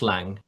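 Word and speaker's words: Laing: So, the lang is spelled L A I N G. L A I N G. Yes. And pronounce Lang. Lang. Lang.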